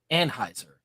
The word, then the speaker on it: Anheuser: of his life and it's officially pronounced Anheuser as in the name Anne yeah you know I